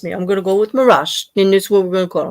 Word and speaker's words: Meraj: Why do you say Z with a J at the end? I can't confirm this, but from what I understand, that's the way the J is pronounced in. It would make sense because of Taj, right? Yeah. Like in Taj Mahal. Yeah, in the Pakistan, India region, the J is like a J.